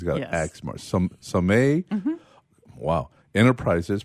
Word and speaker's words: Sommet: Sommet. Wow. Enterprises, pronounced Sommet.